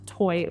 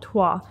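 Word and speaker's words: Toi: want to say um toy toy toy is pronounced toy like t y and not TWA because apparently this uh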